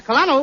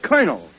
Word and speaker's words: colonel: In military parlance, C-O-L is pronounced cur, as cur.